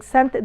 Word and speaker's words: cent: Why the C is pronounced as S in the word sent? Because it's followed by E. You remember the rule. If the C is followed by either I, E, or Y, it's gonna be pronounced as S.